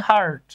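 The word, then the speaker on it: heart: দেখতে পাচ্ছি এটা হচ্ছে হার্ট দেখেন হার্ট হার্ট শব্দে এইচ কিন্তু এইচ কিন্তু সাইলেন্ট নাই ভায়োলেন্ট আছে এটা উচ্চারিত হচ্ছে প্রোনাউন্সড হচ্ছে সো এইখানে এন লেখার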